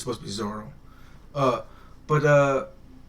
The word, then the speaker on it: Zoro: Yeah, they say Zolo in the book, but I know further in around like where I'm at right now, they always just call him Zoro, and it's supposed to be Zoro.